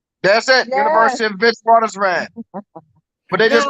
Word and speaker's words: Witwatersrand: WIT double like WIT WATER like water. SRAND. That's all one word. WIT WATERSRAN. Oh, thank you. That's it. Yes. University of Witwatersrand.